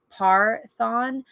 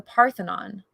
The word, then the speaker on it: Parthenon: that she was surprised by how often visitors mispronounce its name i've heard it called the par-thon the pantheon the parthian she said my personal favorite is the park